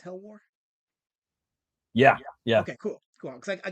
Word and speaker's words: HELWÄR: It's HELWÄR. Yeah. Okay, cool. Because I got worried because there was 2 dots over the A, so I'm like, there's a special pronunciation for that word. It's not HELWÄR, but you confirmed it is.